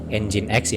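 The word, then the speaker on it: nginx: kita lanjut ke ingat Atau yang bisa disebut dengan engineers sebenarnya dibacanya engine.exe ini digunakan untuk server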